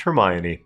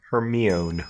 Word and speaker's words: Hermione: Also, I learned that Hermione is pronounced Hermione, and not Hermione.